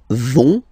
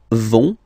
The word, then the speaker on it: vont: So, ils vont, final T, not pronounced. Ils vont.